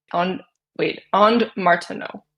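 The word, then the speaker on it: Ondes Martenot: Yeah, the Andes Martineau, I think is how you pronounce that. And Martineau. That's how you pronounce it.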